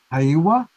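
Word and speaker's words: Heiwa: you pronounce it is hawawa yeah like a hey like hey all right so if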